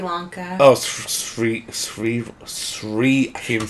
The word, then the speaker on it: Sri: Oh, Sri. I can't even say it. Sri Lanka. Shri. So it's like a SH sound, Shri. Shri. But there's no H. What? I know, but that's how it's pronounced.